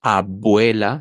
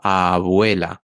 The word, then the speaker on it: abuela: aire no por ejemplo cuando decimos abuela no decimos abuela sino abuela o Adiós agua no ahí no cortamos el aire entonces esos sonidos los podemos alargar AB vuela pero no podemos